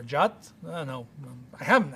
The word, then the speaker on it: JWT: So it's a key uh suggested pronunciation that one as jot whatever or jot I don't know I